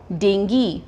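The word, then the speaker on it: dengue: miss pronounce word है हम इसको बोलते हैं डेंगू डेंगू फीवर अब अगर अगर आप इस वर्ड को ध्यान से देखो यहां पर भी किस में एंडिंग हो रहा है जी यू ई और हमने अभी-अभी क्या किया है जो वर्ड जी यूई में एंड हो रहा है उसमें यह पार्ट क्या हो जाता है हमारा साइलेंट तो इसकी प्रोनंसिएशन क्या है डेंगी तो इसकी करेक्ट प्रोनंसिएशन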